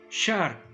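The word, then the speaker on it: שר: Se dice shar, shin, resh, el regente.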